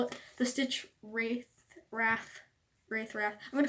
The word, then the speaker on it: Stitchwraith: at the pets video he pronounced the stitch Wraith I was like wait it's like it but I like stitch wrath butter in my opinion it sounds more real but anyway the stitch